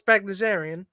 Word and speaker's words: Bagdasarian: So, Alvin and the Chipmunks is for sale, and the owner, Ross Bagdasarian. Right. That's how you pronounce his name.